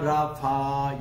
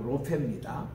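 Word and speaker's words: רופא: 근데 우리 한국의 복음성가 이제 지을 때에 거기 이제 가사에 보면은 여호와 라파 여호와 라파 그렇게 돼 있거든요. 라파가 아니고 로페입니다. 정확한 발음은 꼭 고쳐야 돼요.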